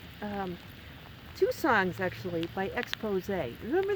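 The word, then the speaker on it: Exposé: two songs actually by Expose remember the group expose with the with the accent on the on the E all right not 80s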